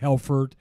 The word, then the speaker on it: Helfert: to the United States in the 1890s their pronunciation was not good in the immigration officer thought that they said helfert and he changed the spelling of our name